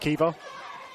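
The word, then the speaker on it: Caoimhe: It is pronounced Kiva. It's a good old-fashioned Irish name.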